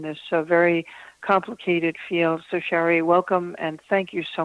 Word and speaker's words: Shari: Shari is spelled S-H-R-I, not Sherry. I say that because I have a cousin named Sherry. So it's Shari, has